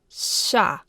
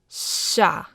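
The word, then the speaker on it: щ: This one here is sha. It's actually pronounced a little bit longer in length, and instead of your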